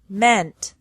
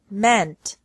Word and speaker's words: meant: Another group has EA pronounced differently from the present to the past and past participle. Deal, dealt, dealt. Mean, meant, meant.